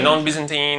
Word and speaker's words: non-Byzantine: So was this all, I'm not an expert, non-Byzantine, is that how you say it? Right, non-Byzantine or sometimes called benign failures.